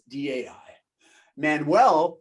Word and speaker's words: Dai Manuel: And my name, I know it's spelled really weird. Dai is a Welsh name for David. So it's D-A-I. Manuel, Portuguese last name, M-A-N-U-E-L.